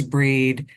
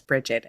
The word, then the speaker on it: Brigid: It specifically says that they refer to her as Breed and they spell it Brede. So for whatever the value of Wikipedia is, they validate your pronunciation. So because of my training, you'll hear me refer to her mostly as Breed, and you'll probably hear Chelle refer to her as Brigid, and both are correct.